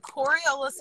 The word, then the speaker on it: Coriolis: the windows a little bit it's called the coriolis effect i i got it it's just that